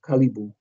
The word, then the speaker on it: caribou: of languages and um the original word in its pronunciation is kalibu and uh that's where we get Caribou from and even kalibu